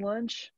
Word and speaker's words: Lunche: At Lunche on everything. Instagram, Twitter, SimonLunche. And lunch, like we were talking about, is just pronounced like lunchtime. Nothing fancy.